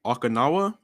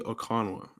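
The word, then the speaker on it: Okananwa: You said Okinawa, like Japan. O. It's OkanawA. Yeah, but one of those is silent. Okay, so that's like that middle one is silent.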